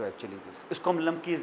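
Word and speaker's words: Klumpke: भी रखा हुआ है के साइलेंट है इसको हम कहते लमकी पैरालाइसिस क्या कहते हैं लमकी पैरालाइसिस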